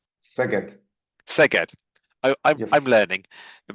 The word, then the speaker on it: Szeged: Máté Manczinger, Máté graduated with a medical degree from the University of, I'm going to get this wrong, the pronunciation, Szeged? Szeged.